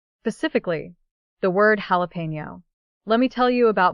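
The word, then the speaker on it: jalapeño: eyes, and proudly says, "Jalapo." Guys, I literally cry laughing every time. The correct pronunciation is jalapeno. In Spanish, the J makes an H sound and the N with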